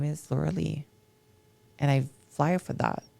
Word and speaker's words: Lauralie: So it's pronounced Lauralie. Lauralie, I-E at the end. In English, you guys pronounce the I like we pronounce the E.